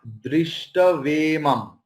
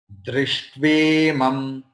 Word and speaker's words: दृष्ट्वेमं: The pronunciation, the next one is not Drishtavemam. Okay. It is Sha, Ta and Va together. Drishtvemam, Drishtvemam, Drishtve, Drishtve, Drishtvemam, Swajanam Krishna.